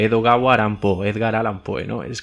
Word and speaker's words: Edogawa Rampo: y él, su seudónimo, Edogawa Rampo, si te fijas a la hora de pronunciar, se parece mucho a Edgar Allan Poe, Edogawa Rampo, Edgar Allan Poe, ¿no?